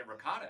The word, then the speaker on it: ricotta: When I came down here, people say ricotta, and I was like, these people don't know how to talk. Well, it turns out I was wrong. Ricotta is the right way of pronunciation, and mozzarella is correct. We always say mozzarella.